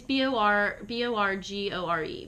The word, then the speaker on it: Borgore: been How do you spell trying- Borgor? No, it's Borgore.